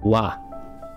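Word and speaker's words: は: to confuse you yet whenever you see this in probably 99 of words it will be pronounced with an h ha however if this is used by itself not in a word if it's used by itself as a piece of grammar it's actually still written like this but pronounced wah so let us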